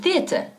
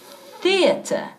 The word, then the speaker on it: theater: Go to the theater. Y escucha cómo estoy pronunciando la palabra teatro. Theater. Theater. Sí, estoy sacando la lengua al decir la primera sílaba. Theater.